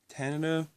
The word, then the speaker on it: Tanita: and here is the Tanana I believe it's pronounced a Nita one four seven nine